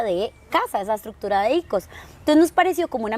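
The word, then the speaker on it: οἶκος: El oikos, bueno, en realidad no se dice oikos, se dice ikos, si lo pronuncias en griego. Obviamente puede tener otro tipo de acento, pero nos enseñaron que es ikos.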